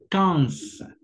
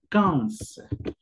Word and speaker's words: quinze: Y la manera en que lo vas a pronunciar es quinze, quinze.